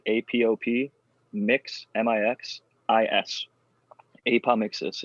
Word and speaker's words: apomixis: apomixis, Eagle.